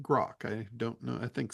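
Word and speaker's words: Groq: to, and it's called Grok. Not Grok like the tool for AI in Twitter or in X now. So Uh, how is it spelled? it's QROQ, and they pronounce it Grok.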